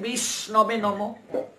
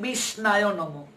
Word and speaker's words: বিষ্ণবে: বর্ণন মাত্র কৃষ্ণের সন্তোষ কেউ বলছে বিষ্ণবে নমঃ কেউ বলছে বিষ্ণায় নমঃ নমঃ ভুল কিন্তু সে উচ্চারণ করতে পারছে না শুদ্ধটা বিষ্ণবে নমঃ কিন্তু সে বিষ্ণবে এই